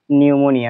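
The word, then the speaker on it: pneumonia: হচ্ছে সামনে পি আছে পির উচ্চারণটা সাইলেন্ট থাকে তো এখন বিষয়টা হচ্ছে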